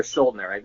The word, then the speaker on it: Schuldiner: Some people say Schuldiner or Schuldner. I'm pretty sure it's Schuldiner though.